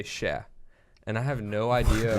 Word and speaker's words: cher: I think it's like technically spelled like in the French way, like CHER. But like we say it casually like just SHA, like sha.